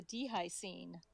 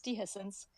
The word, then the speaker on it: Dehiscence: I thought I'd correct that first, but I kind of like the Dehi scene. I kind of like that pronunciation, so I could go with that. But it's Dehiscence.